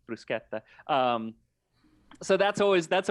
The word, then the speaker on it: bruschetta: a deal but um when people say bruschetta everybody says bruschetta yeah um yeah no because that's how it would be pronounced in english um or in you know german or anything that that sch but in italian it's brusqueta um so that's always